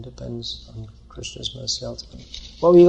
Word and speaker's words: Krishna: For that matter, we should say Krishna, and most of us don't pronounce Krishna properly. It should be Krishna.